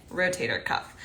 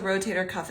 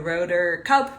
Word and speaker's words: rotator cuff: really know what the rotator cuff is. I've heard a lot of different pronunciations of it. So the rotor cup, rotary cup, rotor cuff.